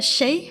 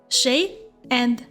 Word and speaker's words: 谁: happen please note that the Chinese character Shea has two pronunciations she and Shea Shea is considered more formal and is commonly used in educational or public speaking settings on the other hand in daily life people often prefer using Shea in their conversations both pronunciations mean who Nishi is more suitable